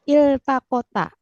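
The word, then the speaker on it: التقتا: kalau kita penggal itu kan bacanya iltaqota iltaqota jadi eh polanya iftaala bukan dari bukan dibacanya Al tapi Il Il I betul di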